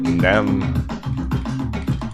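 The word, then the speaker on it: XEM: nap so i'm going to call it nem but it's spelled xpm so if i say nem this is what i'm talking not about.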